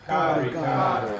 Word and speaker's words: Karika: Karika. Long A. Karika. Okay? Karika.